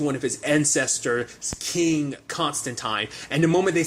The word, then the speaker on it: Constantine: Of like, DJ would always bring up the fact is that the proper pronunciation of Constantine's name is Constantine, but I don't know whether that's just kind of like how that really plays out in that certain regard.